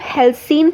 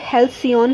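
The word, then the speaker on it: halcyon: इसे हम हेल्सीन प्रोनाउंस करेंगे, हेल्सियन प्रोनाउंस नहीं करेंगे.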